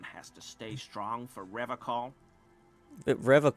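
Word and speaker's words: Revachol: to stay strong for rev call Rev call his gaze shifts to the pile of soy logs at his feet he pronounces Revol with a hard K unlike other people serious question time this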